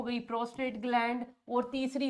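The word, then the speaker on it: prostate: That is प्रोस्ट्रेट नहीं है। बार-बार बोल रही हूं स्पेलिंग का ध्यान देना। प्रोस्टेट का मीनिंग कुछ और होता है। Horizontal to the ground. It इज़ प्रोस्टेट। आर नहीं आ रहा टी के बाद।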